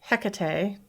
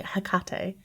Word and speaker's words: Hekate: they were before well hekate I need to pronounce it differently hakate she did not lose